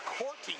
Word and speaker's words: Corty: It's Corty, not Court, for the Humboldt Broncos.